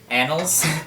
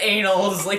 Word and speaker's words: annals: And it's annals. I said anals 3 times.